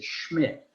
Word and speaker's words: Schmidt: not say that instead you say schmidt but if we took the m out it had the pronunciation that i just had i just just said the bad word and put an m in between you got the pronunciation old german nerve it actually means the same thing as smith if you know anybody